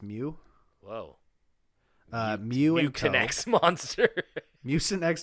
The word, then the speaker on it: Meux: I believe that's pronounced Mew.